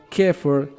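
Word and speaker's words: Xeper: A través del proceso de Sefer, pronunciado Kefer, una palabra egipcia que significa convertirse.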